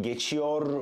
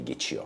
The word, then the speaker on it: geçiyor: I mean, pronouncing the R at the end of the word, but we generally don't do it. We just say geçiyor. So if, in case you're wondering why I'm not pronouncing some R's at the end of some words, especially at the end of conjugated verbs, when they end in R, we generally don't pronounce them.